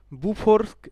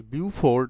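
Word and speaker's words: Beaufort: Next question দেখো, বুফোর scale, বিউফোর্ড মনে হলেও আসলে এর উচ্চারণ হচ্ছে বুফো।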